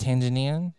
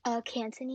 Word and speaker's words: Cantonese: are you still pretty fluent in and it's pronounced Tanzanian? Is that it's pronounced? Cantonese. Cantonese.